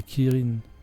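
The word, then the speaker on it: キリン: Voilà le bandeur avec un L de Kiringam en girafe alors que la prononciation japonais est Kirin Killin mais il est bête ou quoi ?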